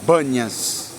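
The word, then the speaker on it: Banias: esse Deus antigo então Eles mudaram a pronúncia de p para B E aí ficou banhas por isso banhas exatamente a mudança da letra P para a letra B só para tirar de tempo a pronúncia do ídolo eu vou levar vocês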